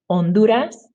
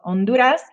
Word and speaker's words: Honduras: tapas good job okay h is silent in spanish um and just don't pronounce it pretend like the word starts with the vowel instead so please repeat honduras and remember the d so honduras has an h but